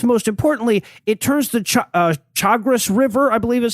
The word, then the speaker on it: Chagres: It also obviously increases the likelihood of landslides, and perhaps most importantly, it turns the Chagres River, I believe is how it's pronounced, the Chagres River, which is right down the fucking path